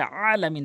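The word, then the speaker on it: عالمين: সূরা ফাতিহার ওখানে আলহামদুলিল্লাহ রাব্বিল আলামিন বলে, যারা আলামিন বলেন তাদের নামাজ হবে না, এই হামজা আনলে নামাজ হবে না, আইন উচ্চারণ করতে হবে আলামিন, তাহলে সঠিক অর্থ দাঁড়াবে নামাজ হবে।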